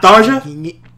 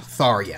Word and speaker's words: Tharja: Okay, but her name is technically pronounced Tharia. Okay. Yeah, like if you play Tokyo Mirage Sessions, like that is actually how her name is pronounced.